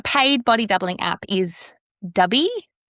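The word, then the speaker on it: Dubbii: So, a paid body doubling app is dubby, I think is how you say it.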